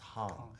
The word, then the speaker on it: Hang: spelled hang like but in Swiss German it's pronounced Hong and it means playing